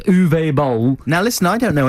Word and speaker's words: Boll: Uwe Bowles. Yes. Uwe what? It's Bowles, isn't it? But I think bowl, is it bowl? Or balls? But I think it's just bowl, isn't it?